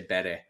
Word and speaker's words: Bury: The reason I didn't say it is because I don't know if I say it right, because I say Bury where I'm from, but other people say Berry.